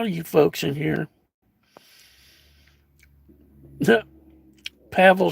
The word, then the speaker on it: Pavel: Read just like gravel, but Pavel.